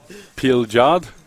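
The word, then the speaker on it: Pilgaard: for yeah your man pill guard he's listening for what do you have 87480 all right uh like rainbow yeah just get rid of that yeah peel jard o that's how you say it yeah oh my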